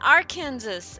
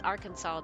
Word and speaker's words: Arkansas: They're like Kansas and our Kansas. And I'm like, "No, no, no. It's it's it's Arkansas."